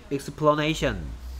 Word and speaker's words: explanation: 근데 여기에 a의 발음은 explanation이 되죠. 어 발음으로 바뀝니다. 이게 뭐 e가 거꾸로 뒤집어진 것 같은 소리가 힘없는 어라고 해요.